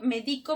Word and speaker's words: médico: Ahora, si yo digo médico, medico, medicó, ¿tienen el mismo significado? No, cambia según el acento. Médico, ¿no es cierto? Es el doctor. Medico, que te va a recomendar algo, una receta. Medicó, es en tiempo pasado.